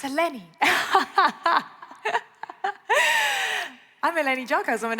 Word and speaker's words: Eleni: My dear colleague, Richard Quest, got my name wrong. I'm going to have... Richard, it's Eleni.